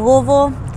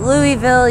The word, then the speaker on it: Louisville: I'm from Louisville. And you don't say it like Louisville, or you don't say it Louisville. You say it like you got a mouthful of marbles, like Louisville.